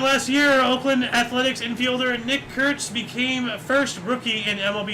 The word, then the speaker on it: Nick Kurtz: You gotta be careful when pronouncing this guy's name. Nick Kurtz. Yikes. If you say it too fast, you say the N-word.